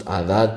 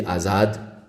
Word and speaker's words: Adad: In Arabic it's pronounced Adad, probably in Persian it would be Azad.